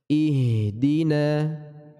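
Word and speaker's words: اهدنا: kebesaran ihdina seperti itu huruf hak dari pangkal tenggorokan dan dia sifatnya tipis maka ringan pengucapannya ihe di ih seperti itu ya dia huruf yang tipis bukan profil tebal kita baca ihdina Prof H juga memiliki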